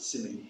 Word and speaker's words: simile: Should we pronounce it simile?